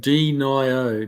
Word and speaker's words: Denio: you know Todd kiwi my name is pronounced Denio Deno okay cool I'll try